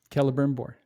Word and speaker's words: Celebrimbor: So I was confused for a long time about how to pronounce the C's, but it's always a K. I don't know why they don't just use K's. Celebrimbor and Cirdan.